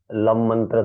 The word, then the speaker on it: लम: चलिए हम शुरुआत करेंगे ल मंत्र से शुरुआत करेंगे फर्स्ट फिंगर ज्ञान मुद्रा के साथ कम सीधी बैक स्टेट उसका जो उच्चारण है लम का एल एम लम उसका वाइब्रेशन व मंत्र